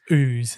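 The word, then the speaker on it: Ouse: any suburb isn't it it's actually o-u-s-e but yes it's pronounced ooze is in the stuff that comes out of a pimple well these people allegedly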